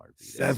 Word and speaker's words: Arvydas: Arvidas.